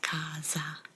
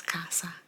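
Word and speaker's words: casa: Kasa Kasa is home Kasa almost like you pronounce it c a z a Kaza but it's Kasa kasaa Kasa Mia Kasa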